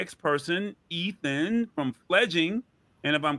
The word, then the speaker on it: Fledging: First of all, I appreciate you saying it right. Fledging is what we are. A lot of people go with fledgling.